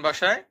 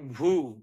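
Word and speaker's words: vu: পড়েছি ইউ সেটাই ইতালিয়ান ভাষায় উপরে ভু যেটাকে আমরা ইংরেজিতে পড়েছি ভি কিন্তু ইতালির ভাষায় হবে ভু সর্বশেষে আছে জেত্তা যাকে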